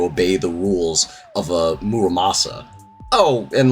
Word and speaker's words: Muramasa: I made sure to really sound out how the sword is pronounced in my script because for the longest time I pronounced it Maramosa, and I wasn't corrected until like, I don't know, 6 or 7 years later.